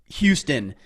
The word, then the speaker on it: Houston: understanding culture and the way that names are pronounced. You're talking about Rex. Huston. Huston. It looks like Huston. I sent Rex a message and I'm like, I didn't even know your name was Houston.